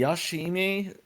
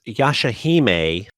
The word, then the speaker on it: Yashahime: we're back with the yashimi princess half game and i probably slaughtered that i'll let kirito take care of that later yeah guys this is kirito silverheart and it's pronounced yashahime princess half demon and